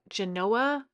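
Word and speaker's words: Genoa: So, we actually bought the is it Genanoa uh salami? I think is G E N O A I think is how you pronounce it.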